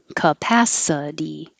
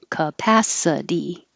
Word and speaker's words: capacity: Anything that ends in ity sounds like d. Capacity, capacity.